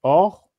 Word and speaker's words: Horus: Ensuite, plus bas, vous avez le faucon, Horus, qui se prononce Or, et qui signifie noble, donc c'est le titre des chefs.